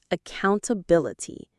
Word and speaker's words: accountability: Word number 10, accountability. This is a big, important word. Let's get the pronunciation.